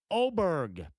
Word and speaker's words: Åberg: Indiana Green County fashion, I pronounced his name wrong. Ludvig Åberg, but it's spelled Åberg. Just like Milan is pronounced Milan. Just like Dubois County looks or would be pronounced in Europe Dubois.